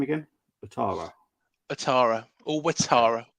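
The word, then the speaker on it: Ouattara: Atara or Watara. Okay. Watara.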